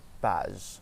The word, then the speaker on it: page: So we say je and page, je and page.